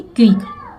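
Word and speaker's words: quick: क ही पढ़ते हैं, लेकिन यहाँ पे सी साइलेंट है, ठीक है, क्विक।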